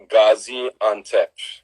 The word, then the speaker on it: Gaziantep: It's called Gaziantep. Gaziantep. Gaziantep. That's a perfect pronunciation, Lakeisha.